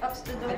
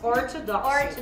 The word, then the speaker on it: Orthodoxy: So if you look at this one, you compare the ox, how do you say it? Oxtodoxy. Again. It is called the Orthodoxy.